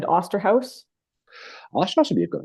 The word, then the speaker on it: Osterhaus: Oosterhouse. Oosterhouse. Right? Yeah, is it Oster or Ooster? I've always pronounced it Oosterhouse. But it says Osterhaus, but I know people call it Oosterhouse.